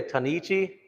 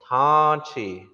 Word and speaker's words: Tanchi: You say Tanichi? It's not spelled like this. Tanichi, that's what you said. That's not what it is. It's Tanchi. Tanchi.